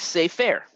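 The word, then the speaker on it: סֵפֶר: scroll or book is say fair right but I'm gonna let me draw let's see you all right safe here right so this word happens to be stressed on the first syllable and so this is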